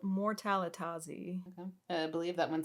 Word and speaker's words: Mortalitasi: Is Mortalitasi? Is that how you say it? Mortalitazi.